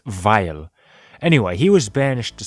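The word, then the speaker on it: Weil: guys it's German it's pronounced vile anyway he was banished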